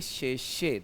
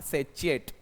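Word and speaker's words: sachet: सी एच ई टी तो आप इसे बोलेंगे शेषे नॉट सेचिएट। ध्यान रखना। ओके? तो इसका प्रोनंसिएशन शेष्य है।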